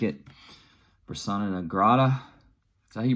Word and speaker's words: persona non grata: listen I sound the more I like it persona nagrada is that you pronounce it yeah persona non grata uh not a weak track going here um